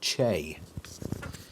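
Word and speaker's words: Chee: And as you can see on the screen there, for anybody watching, Chi is apparently pronounced Che. Interesting.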